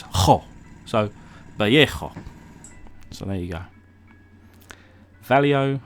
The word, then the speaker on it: Vallejo: So in Spain, the V is pronounced more with a B sound. So B for ball. The L is an L, but if it's a double L, then it's more of a Y, or like a Y.